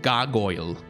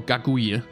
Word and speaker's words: Gargouille: It relates to the city of Rouen in France, where there was a monster called Gargoyle, or Gargouille, depending on your pronunciation, which was sort of a typical dragon monster.